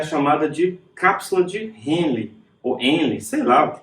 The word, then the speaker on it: Henle: Essa parte de baixo aqui, ó, ela é chamada de cápsula de Henle, ou Henle, sei lá, que tem um H aí no meio, né?